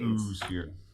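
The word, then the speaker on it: oosphere: It's just ooh, ooh. You have to say it like that.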